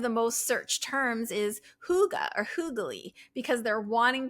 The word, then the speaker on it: hygge: Hygge is spelled Hygge, but it's pronounced hygge.